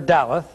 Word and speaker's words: Daleth: alphabet is the letter Daleth and you will find this information on pages 15 and 16 in your Hebrew workbook the Daleth spelled da l e th Daleth the meaning of this